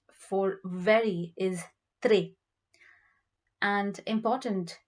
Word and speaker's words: important: So the word for very is très, and important is it's spelled the same way, but the pronunciation is important.